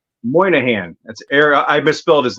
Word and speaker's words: Moynihan: Moynihan.